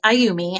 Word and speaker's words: Ayumi: Aayumi, I think it's pronounced, spelled a Y u m I if you're looking for it on the site.